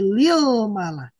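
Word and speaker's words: للملك: yang asalnya almalak. Malaikat mufradnya almalak ketika bersambung dengan lam harap jar maka dibacanya akan menjadi lilmak.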